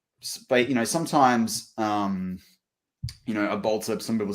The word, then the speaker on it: Bolter: And so this can sound pretty interesting, but like Bolter, and it's spelled ER, but you say it more with an A if you're using it for the slang.